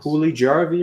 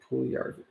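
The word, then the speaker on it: Puljujärvi: Pulijarvi or Puliarvi? Puliarvi. So Very- both J's are silent.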